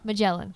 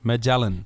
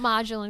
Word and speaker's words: Majelen: a j e l e n and it's pronounced mellin mellin not marelin because that's way too fancy for Me grew